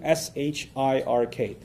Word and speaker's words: shirk: out for you to s-h-i-r-k so nothing worse for a Muslim from a faith perspective nothing worse than shirk s-h-i-r-k sounds like Shrek so that's easy to